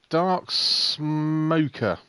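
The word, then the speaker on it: Dark Smoka: racer here dark smoker that's how you correctly say his names dark smoker now I've had a chat with dark smoker due in a week and he's cuz I keep saying his name's dark smoker and the reason I say it's dark smokers cuz you spell he spells it s mo ka but he says the actual correct pronunciation is dark smoker and I said well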